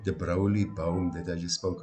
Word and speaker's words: Broglie: But among them, if you take somebody like de Broglie Bohm that I just spoke about now, and got waylaid by the pronunciation of the silent G, but they came up